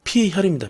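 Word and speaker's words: 血: 그러면은 이거는 뭐라고 읽어야 되겠습니까? 피혈입니다.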